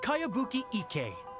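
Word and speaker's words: Kayabuki Ikku: of it hmm by cowabunga icky yumiya this is a really strange name who's this cowabunga it's pronounced kaiabuki ek that would be me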